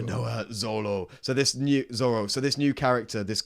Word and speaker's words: Roronoa Zoro: Roronoa Zoro. Roronoa Zoro.